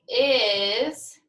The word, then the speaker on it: is: Do you think is has the sound z or s, s? Is. That's right. It sounds like it goes in the category Z, is, but it's spelled with an S.